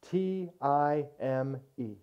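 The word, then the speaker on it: τιμή: T-I-M-E. It's pronounced time, but it's transliterated time.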